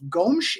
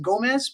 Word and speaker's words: Gomes: A forward by the name of Gomes is how it's pronounced. We would think it's pronounced Gomez, but it's Gomes.